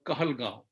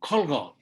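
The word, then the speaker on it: Kahalgaon: in bihar there is a village called kahalgao okay the british could not pronounce kahalgao so they changed the name to khalgo c-o-l-g-o-n-g why i know this i used to be good in spelling bee in during my time and kanga was a spelling bee's toughest thing to understand call god because the british could not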